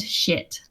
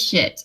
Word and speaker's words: Schitt: And the mayor, his name is Roland Shit. What? His first name is Roland. His last name is Shit, and they spell it Schitt.